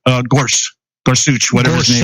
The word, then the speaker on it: Gorsuch: Neil gor I don't know exactly how to pronounce his name guch Gorsuch G Gorsuch okay yeah and uh after listening